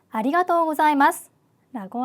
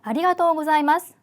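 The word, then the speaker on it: ありがとうございます: 아리가토 사이마스라고 합니다 자 아리가토 사이마스 자 발음 주의를 하실 필요가 있죠 자 한국어로 자로 표기가 되어 있기는 하지만 자보다는 영어로 z a z 발음이 들어가는게 조금 더 일본어 발음에 가깝다 이렇게 기억을 하시고 발음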